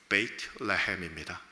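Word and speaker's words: בית לחם: 베들레헴은 정확한 히브리어 발음으로는 베이트레헴입니다.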